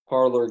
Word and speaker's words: Parler: The way parlor is spelled is actually the way the French word parler. Yes. Spelled, so speak. Yeah. Parler.